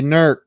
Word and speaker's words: Newark: it lancaster lancaster and and newark hears they say nerc and louisville is louisville